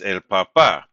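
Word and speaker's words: papá: Um, and then Homer here is el papa, right? And we need to have that accent mark because it's it's telling us that the stress is on the final syllable.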